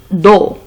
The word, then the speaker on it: dos: Le dos. S ne se prononce pas.